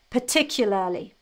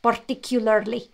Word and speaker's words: particularly: i think this is the hardest regarding the pronunciation particularly now let me pronounce it slowly i think